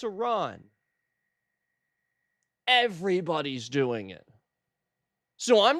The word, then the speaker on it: Iran: What I am hearing is Iron. Literally flat out just the wrong letter. Iron. Listen guys, if you're trying to stick up for another country and what's right, don't mispronounce their name over and o like they're just going to think you're stupid. It's four letters and you don't know how to pronounce Iran.